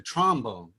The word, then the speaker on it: trombone: clarinet you play the trombone and the clarinet there's a first syllable emphasis on these you play the trombone